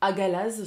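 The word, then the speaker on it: Hagalaz: Donc là, nous sommes avec la rune Agel, ou Agalaz, selon le choix que l'on fait de prononciation.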